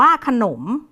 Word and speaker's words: ขนม: ถ ถุง นะ คะ คำ แรก ขนม อ่าน ว่า ขนม คำ ที่ 2 นะ